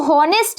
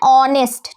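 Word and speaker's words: honest: इसलिए हम सिर्फ ओ को पढ़ेंगे। लिख लेकिन लिखा तो होनेस्ट जाएगा। लेकिन हम हमें क्या बोलना है? ऑनेस्ट।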